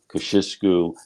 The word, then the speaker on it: Kościuszko: But we're here to talk to her about another project, that is her research into General Tadeusz Kościuszko. Kociuszko. There are many different pronunciations of the general's name, and we will hear more about him now from Kiersten Marcil.